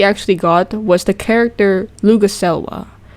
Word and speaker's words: Luguselwa: One of the new things we actually got was the character Luguselwa right now I'm pronouncing her name right because I actually read it as Luguswelga.